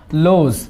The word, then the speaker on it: lose: আসবে, লেস্ট নতুবা ইউ লোজ, LOSE, ইউ লোজ, বানানটা খেয়াল করতে হবে, হারিয়ে ফেলা, এটা আবার অনেকে লস লিখে ফেলবে দেখিও, LOSS লিখে ফেলবে দেখিও, এটা নাউন, LOSE লস, হারিয়ে ফেলা, এটা ভার্ব।